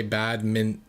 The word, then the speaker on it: badminton: I just don't pronounce the T. I don't say badminton. I say badminton.